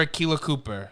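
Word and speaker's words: Akela Cooper: was he just the story story by writer Aquila Cooper that's how you pronounce it yep Strange New World do you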